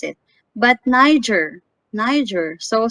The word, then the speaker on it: Niger: But Niger, Niger. So some people mispronounce this as Niger or Niger because this is letter G. Without knowing, it's Niger.